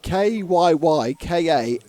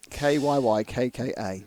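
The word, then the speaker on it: Kyykkä: His surname is Kyykka, with a hat. Any Finnish watchers Kika. It could be on Kika. YouTube? Could you just do a phonetic? How do you pronounce double Y double K? Yeah, just tell us how you pronounce Kyaka. Kyykka.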